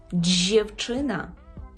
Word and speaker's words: dziewczyna: чуєте дженч 10 дівчина джевчина дівчина джевчина потренуйте Ось ця буквосполучення д з і е дуже часто зустрічається тому відшліфуйте його ну